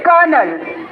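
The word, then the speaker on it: colonel: blue but spell it correctly it इस नॉट pronouncedure इट इस कर्नल तेल मी D silent letter also bring it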